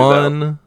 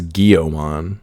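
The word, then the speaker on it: Guilmon: Gilmon, and Brandon says Guillaumon. Yeah, he says it like it's a water Digimon, like gill. Like it's got gills.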